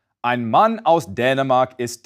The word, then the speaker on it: Dänemark: As you can hear, this A umlaut is pronounced close to the vowel in English's bed and said, Dänemark.